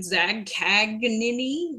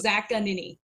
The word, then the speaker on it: Zaccagnini: can't say it they they either over pronounce the G like zag kagin like Siri that's how